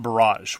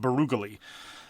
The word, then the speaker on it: Barrage: And the League Water expansion, and by the way, it's not Barrage. We're informed that, according to something that some guy once looked up on the internet once, it's pronounced Barugally.